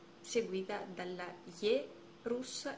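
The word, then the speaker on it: Е: La Ye è un po' particolare perché all'inizio di una parola si legge come ye, con ye all'inizio, ye. Però quando sta dopo una consonante suona come una E normalissima italiana.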